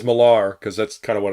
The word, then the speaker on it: Millar: posh when people say Millar. I did say Miller. I used to always say Miller, and then everybody started saying Millar, and I'm like, oh, I'm saying it wrong.